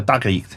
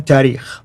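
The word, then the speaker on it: تاريخ: And then the last genre, the tarikh. How do you say it again? Tarikh.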